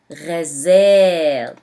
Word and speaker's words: غزال: Or ghazal, deer.